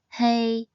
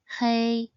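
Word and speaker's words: 黑: It is pronounced as hey a hey. It is pronounced in the first tone.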